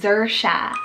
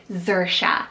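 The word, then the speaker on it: Xersia: And another great X option, guys, is Xerxia, so X-E-R-S-I-A, Xerxia.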